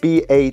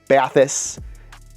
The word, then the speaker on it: Bathys: non-french native speakers because it's spelled b a t h Ys and I have to say the first time I saw it I definitely said bais but ba if you want to be sophisticated and not laughed at